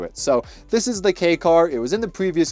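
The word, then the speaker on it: kei car: I called it the Ki swap cuz I had no idea how to pronounce it. This is just called a K car.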